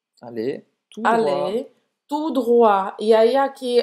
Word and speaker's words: droite: Tournez à droite. Tournez à droite. Tournez à gauche, esquerda. Tournez à droite, direita. À droite. Et ce sont des wa, hein, como se fosse wa.